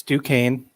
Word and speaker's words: Duquesne: not a better day i know how to pronounce the name it's duquesne it's the dukes and